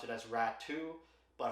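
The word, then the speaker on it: Räty: rat some people say rat too his brother just got traded in that Horvat trade with the Islanders and I saw some people pronounce it as rat II but hockey reference pronounces it rati so uh take your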